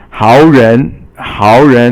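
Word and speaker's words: 好人: Now the next one is 好人. 好 is 三声, and 人 is second tone.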